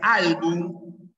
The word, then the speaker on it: álbum: ya que terminan consonante esto se pronuncia álbum Ya termina en m álbum Y esto es